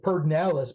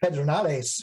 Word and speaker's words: Pedernales: Another one of my favorite is, we say Pedernales, but it's really Pedernales, you know, and Llano is Llano, you know.